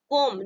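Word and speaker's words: comb: नियम क्या कहता है अगर किसी भी शब्द में एम लेटर के बाद भी लेटर लगा हो तो हमेशा क्या करेंगे हम बी लेटर साइलेंट होता है 20 शब्द को प्रोनाउंस नहीं किया जाता ठीक है जैसे यहां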